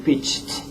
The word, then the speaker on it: pitched: So pitch, you can say pitched. You don't finish and say pitch and nothing more. So you have to remember that. Put the T at the end.